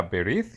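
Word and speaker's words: ברית: que la palabra pacto en hebreo se se pronuncia berit y lo escriben de una de las dos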